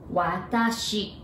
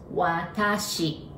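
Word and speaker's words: わたし: And now I in Japanese, it's watashi. There are three sounds, watashi, all right?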